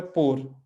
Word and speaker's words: por: और इस पुर, और एक वर्ब है पोर, वर्ब है पोर, और ये है प्रीपोजिशन है पुर, ठीक है, दोनों को उच्चारण में अंतर है, लिखने का तरीका बहुत